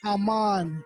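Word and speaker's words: Amon: say what you won't just spell my name right i pronounce it amman again a-m-o-n we want to bring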